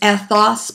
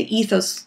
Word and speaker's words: ethos: and that is that the Greek language way of saying these is ethos, pathos, and logos. However, it's perfectly acceptable to say ethos, logos, and pathos.